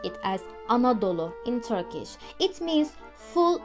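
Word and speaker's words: Anadolu: explain to you how we say Anatolia we pronounce it as anodolo in Turkish it means full of mothers just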